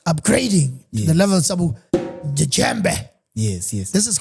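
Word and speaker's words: djembe: Jambe. Jambe. Yeah. It's called a jambe with a DJ E m. You spell it like that.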